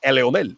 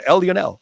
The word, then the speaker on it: Leonel: It's Eleonel. You know, if I give you the Spanish fucking pronunciation, you want the English one, Lionel.